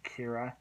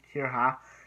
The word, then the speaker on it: Kira: They don't say Kira, they say Kira, and I know it's weird, but Japanese.